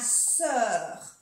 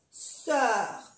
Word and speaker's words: sœur: Se pronuncia como una E. Como una E en francés.